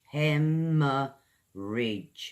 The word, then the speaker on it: hemorrhage: Okay guys hemorrhage heh· muh· ruhj It's like like a JERR sound JERR Okay, great loss of